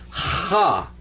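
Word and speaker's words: ح: at you and that's ha ha ha this is the sound you're pronouncing by making is a little sound back to your throat ha you need to practice on that one a little bit we'll go over it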